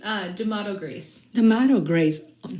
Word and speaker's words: Damato: what's your last name how do you pronounce it because my accent uh D'Amato Greece The Motto Grace of course Grace I